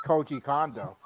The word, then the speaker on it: Koji Kondo: Is that how it pronounces his name? No, it's Koji Kondo.